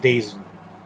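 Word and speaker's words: DAZN: don't have the the dazzin app or whatever they're putting bellator on so i'm gonna have to find another way to watch this but it's pronounced what pronounced days it's pronounced don't download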